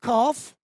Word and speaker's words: calf: For the word calf, you have noticed that the L is silent because we don't say calf, we say calf.